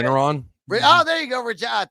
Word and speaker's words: Regeneron: Reginon, I don't know how to say. Regeneron.